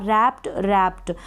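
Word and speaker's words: wrapped: और आपको मत लपेटना रैप्ड तो यहां पर डब्लू साइलेंट हो गए इस रैप में फ्री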